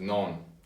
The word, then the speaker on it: naan: Alright, Nutella, and this is a, those who know what this is, it's called naan. Or we pronounce it non.